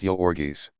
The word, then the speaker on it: Jurgis: One pronounced Yorgis.